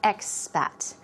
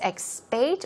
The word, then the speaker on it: expat: There's the casual, a big mix of, or a wide combination, a big combination of expat. This can be pronounced both ways, expate or expat. I say expat, but it's short for expatriate, okay?